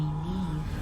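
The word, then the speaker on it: Niamh: In this place, you may call me Neve. Told you, that's what it's pronounced.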